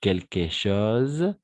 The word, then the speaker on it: quelques choses: je mange quelques choses avec le Z d'accord parce que le S entre deux voyelles on va prononcer comment Z on mange quelques choses je ne je mange